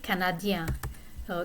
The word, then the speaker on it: canadiens: mixed masculine feminine group, I now need to add S to the end, but the S is silent.